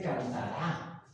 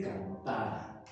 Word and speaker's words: cantara: Y muy importante hacer notar que no dice cantará, dice cantara. Ya después veremos por qué, ¿sí? Para que dijera cantará necesitaría el acento en esa última A.